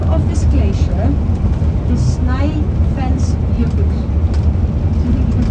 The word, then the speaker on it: Snæfellsjökull: And the name of this glacier is Snæfellsjökull. Do you think you can pronounce it?